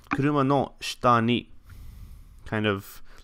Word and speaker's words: shita: This tends to be pronounced without saying the e, and that's pretty true of words beginning with the character shi in general.